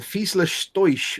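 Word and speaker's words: Fieseler Storch: If I remember rightly, it's Fiesler Stoisch. It's a Fiesler Stoisch. We've all been pronouncing it wrong in German.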